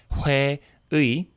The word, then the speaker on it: 회의: case, is that it'll change its pronunciation to be more like just E when it's at the end of a word, like 회의, which is the word for meeting, as in like a company meeting.